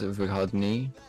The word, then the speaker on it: выходные: On the final syllable, not Выходные. выходные. Vahadni. Выходные.